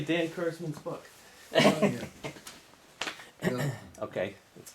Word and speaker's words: Kurzman: Because you know my name is, they often pronounce it Kurtzman, which is. Kurzman.